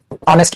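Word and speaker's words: honest: बना दूसरा लिखो ही इज़ अ या एन ऑनेस्ट person ऑनेस्ट person ऑनेस्ट person क्या लिखा है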